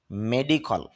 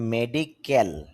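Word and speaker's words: medical: আর কি বা গণমাধ্যম মেডিকল মেডিকেল তবে আমাদের দেশে যে প্রসিদ্ধ যে উচ্চারণটা এটা হলো হল মেডিকেল এখন ক্যাল কেন হবে না আইপিএতে খেয়াল করেন খ সাউন্ডটার পরে খে এর পরে এ সাউন্ড নেই এজন্য এ হবে না ক হবে মেডিকল যখন আমরা বাংলাতে ব্যবহার করে থাকি তখন আমরা মেডিকেল বলব আর যখন ইংলিশে উচ্চারণ করব তখন আমরা বলব মেডিকল চিকিৎসা সংক্রান্ত বা ডাক্তারি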